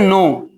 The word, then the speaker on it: know: Spelling समझो, के साथ में है, ये कह रहा है के को नहीं उच्चारण कीजिए, के साइलेंट है।